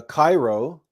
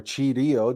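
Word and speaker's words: Chi-Rho: the cheat the uh Cairo or chirio depending on how you want to pronounce that but this symbol otala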